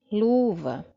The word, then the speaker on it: luva: Segunda palavra, luva. É uma palavra que a gente já viu, não é isso? Luva. Também tem uma palavra que é a sílaba forte, né? Está na penúltima posição.